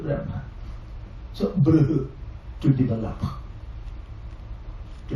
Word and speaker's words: Brahman: Then when we join this, we will write B, R, A, H, M, A, N. Once more, B, R, A, H, M, A, N. Brahman.